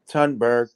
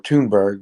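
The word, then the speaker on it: Thunberg: name has always been tunberg pronounced tune or toonberg whatever for me which is the current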